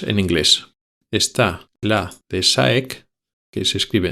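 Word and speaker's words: DSAEK: por sus siglas en inglés está la de SAEC, que se escribe D S a E k y luego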